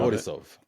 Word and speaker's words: Borisov: I'm not entirely sure to pronounce this actor's name, but Yura Borisov from Yura Anora. Borisov.